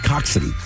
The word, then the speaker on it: coxswain: Coxswain is pronounced coxswain. I like coxswain better.